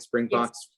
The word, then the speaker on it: Springboks: The story of Nelson Mandela, and we talked about this in the beginning, and the Springboks, did I pronounce that right? Springboks Yes.